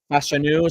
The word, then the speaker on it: Fashanu: Fashanu, so I've been pronouncing it incorrectly the whole time.